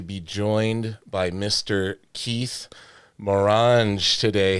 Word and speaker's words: Morange: Keith Mrage today.